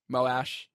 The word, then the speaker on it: Moash: Moash. Moash. No problems. What? I pronounce it trash.